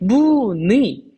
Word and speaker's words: 무늬: 했었죠 자 그 다음에 무늬 자 요거 어 이거 아니네 이런 거 생각할 필요 있을까요 없을까요 없죠 왜요 초성이 자음이니까 그러면 얘도 무조건 2로 발음을 하면 되겠죠 자 그 다음에 의자